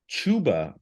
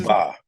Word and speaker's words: Chupa: And then lastly, Pete, we have Chuba. Let me make sure I'm pronouncing that right. This is Chupa.